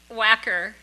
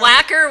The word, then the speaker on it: Wacker: Wanker. I'm going to tell her how you pronounced her name. Wanker. Wanker. She's Well, sorry. whacker, wanker, She's- isn't she's it the sorry.